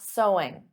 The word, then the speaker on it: sewing: may hear that and did you get sewing because of course the pronunciation is the same as so there's no sewing though adding an ing SO sewing is the activity but the pronunciation is the same as the word so let's talk about this